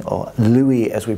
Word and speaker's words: Lewy: was first observed down the microscope by Frederick Levy or Louis as we pronounce it today it became known as the